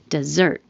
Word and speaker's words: dessert: This one, 45, is spelled differently but sounds exactly the same as 44. Dessert.